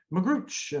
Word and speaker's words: Magrutsche: So this week's episode, I'm featuring and welcoming Michaell Magrutsche, and I hope I pronounced that right.